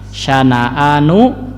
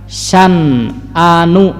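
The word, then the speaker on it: شنآن: Nah kalau di mushaf kan dibacanya syana'a ya, syana'anu qaumin. Kalau dalam qiraat, nah dalam tafsir Al-Munir itu ada qiraat lain ya, yaitu ada yang membaca syan'anu gitu ya. Jadi si nunnya itu disukunkan gitu ya.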